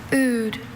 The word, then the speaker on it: oud: Oud. Another tough homonym here. O-O-D-E. Oud. I'm sorry, oud is spelled O-U-D.